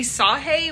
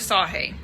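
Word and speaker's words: Sagée: story is about emily sahee we had trouble figuring out how to pronounce her name but we went with sahee and in researching this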